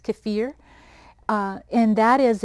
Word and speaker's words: kefir: My Russian friend tells me that's how it's pronounced, kefir.